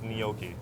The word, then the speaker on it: gnocchi: Well, Am I pronouncing it correctly? it's gnocchi.